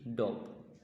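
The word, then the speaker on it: dwarf: এখানে উচ্চারণটা হবে ডোভ। এটা একটা ডিফিকাল্ট প্রনাউন্স, ডোভ।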